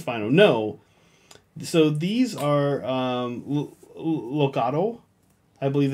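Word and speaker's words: Loxatl: So these are Loxodl. I believe it's pronounced. Oh, wow. Loxodl. It's like L-O-X-A-T. It's kind of like axolotl. But like without the axe? Loxodl, yeah.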